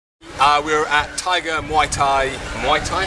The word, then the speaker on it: Muay Thai: Muay Thai?